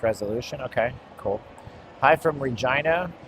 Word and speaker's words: Regina: Hi from Regina, Saskatchewan. Rhymes with vagina.